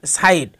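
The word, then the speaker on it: sight: যেমন নাইট এবং সাইট দুটি শব্দের মধ্যে জি এর উচ্চারণ বাদ গিয়ে আই উচ্চারিত হয়েছে।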